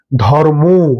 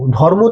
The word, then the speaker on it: ধর্ম: এই যে ধর্ম ধর্ম তো নই। ধর্ম ধর্ম ধর্ম ধর্মক্ষেত্রে বলতো কিছু নেই বাঙালিতে এটা চলে আসে এবং এটা আস্তে আস্তে